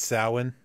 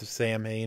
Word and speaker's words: Samhain: It's Samhain. It's not pronounced Sam Hain. It's pronounced Samhain.